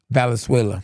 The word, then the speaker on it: Valenzuela: How you pronounce it again, SB? Valenzuela.